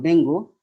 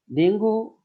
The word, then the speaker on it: dengue: এবার আমরা আসবো আরেকটা রোগ, সেটা হলো ডেঙ্গু। ডেঙ্গু রোগের কারণ, এর প্রকৃত উচ্চারণ হলো আসলে ডেঙ্গি, একটি ভাইরাস জনিত রোগ।